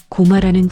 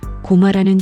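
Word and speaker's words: 高麗: 대표적인 것이 고마라는 지명입니다. 일본 사이타마 현에 고마라는 지명이 있습니다. 고마는 고구려의 일본식 발음입니다.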